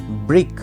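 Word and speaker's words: brick: করা অ্যাটাক सी सायलेंट এখানে next word আছে ব্রিক বি আর আই সি কে যার অর্থ হচ্ছে ইট এবং এখানেও সি সাইলেন্ট নেক্সট ওয়ার্ড আছে ব্ল্যাক বি এল এ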